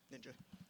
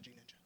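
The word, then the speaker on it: GNinja: Yeah, Ninja, not G Ninja. There's a G's G in silent. front of it. It's like gnome.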